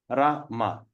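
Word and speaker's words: Rāma: Rama. But when we put the A on top of this thing, we're going to pronounce Rama.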